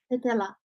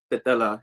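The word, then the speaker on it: Tetela: And Vavar, what's the how do you pronounce the ethnic group he was a part of? Tatella. Tatella.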